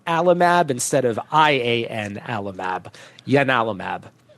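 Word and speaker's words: ianalumab: So, this is a it's it's spelled like I A Alamab, but it's actually pronounced Yanalamab uh named after the uh god Yanis or Janice, the same uh god that you know gave its name to Janice Kynise.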